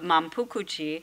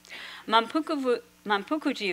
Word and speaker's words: Manpuku-ji: new sect's headquarters of Manpukuchi, which is the Japanese pronunciation for his Fujian temple, Wanfuse, and he moved to Uji. This temple is located in Uji, south of Kyoto. Manpukuji officially opened in 1663, although construction lasted until 1693.